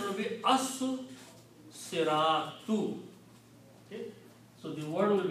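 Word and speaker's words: الصِّرَاطُ: So when you put al, two dhammas change into one, and this becomes al siratu. Also, the swad here kills the sound of lam, and you have to pronounce the swad twice because this is a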